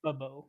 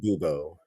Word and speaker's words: Bubo: bubo by the way bubo I I said it right didn't I you said boo damn it I think